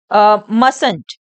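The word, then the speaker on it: mustn't: ये मैंने क्या पढ़ा है इसको यह है मस इसको क्या रीड करेंगे हम मस यह मस्ट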